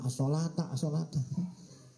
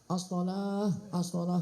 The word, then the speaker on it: as-sholah: Jangan as-sholata, as-sholah gitu. Kalau i'rabnya ya kalau dibacanya bacaannya yaitu ditulisnya as-sholata, tapi ngucapinnya apa? Ya, sholah.